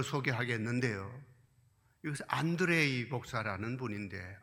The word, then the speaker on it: 안드레이: 이것은 안드레이 목사라는 분인데, 안드레가 러시아 발음으로 안드레이가 됩니다.